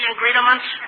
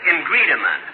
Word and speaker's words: ingredient: Well, you take some flour, sugar, eggs, and do you want to know all the ingredients? Now, look, it isn't ingredient. It's ingredient.